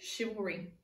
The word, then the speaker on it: chivalry: this sound these are our green words safe chivalry the teenagers shoot Subaru when he held the door open for the girls the syllables in chivalry are chivalry the sounds in